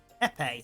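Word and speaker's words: épée: should use the other rules uh he epe epe there we go that's how it's pronounced we should use epe rules any hit counts let's try a lunge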